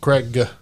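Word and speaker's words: Kregg: And Krieg. It's spelled Craig, though. Like, if you have subtitles on, it is absolutely spelled Craig. It's more like Craig.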